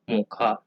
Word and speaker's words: Mocha: Okay, so which is supposed to be pronounced as Mocha.